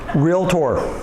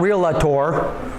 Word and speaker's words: realtor: which by the way repeat after me class realtor realtor realtor okay it's not real latour don't make me embarrass